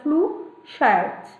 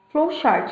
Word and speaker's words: flowchart: aba essa aba chamada flu shart flowchart na verdade né a pronúncia ficou ruim flowchart e nós usamos alguns